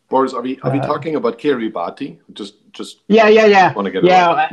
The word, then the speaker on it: Kiribati: But Boris, are we talking about Kiribati? Just want to get it right. Well, okay, so I will explain. Every word ending in ti is it's pronounced s.